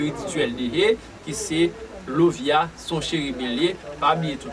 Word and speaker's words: Lauviah: Génie que n'a pas là, chérubin qui n'a pas là, c'est Lovia qui s'écrit Lauvia-H, son chérubin.